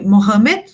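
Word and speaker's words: Muhammad: então o profeta, né, Maomé, ou na pronúncia, né, árabe, Mohammed, né, seria o único profeta.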